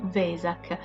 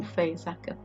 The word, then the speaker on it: Vesak: la grafica originale è Vesac, ma poiché nella lingua tedesca la lettera V si pronuncia F, diventa tipo un fesac.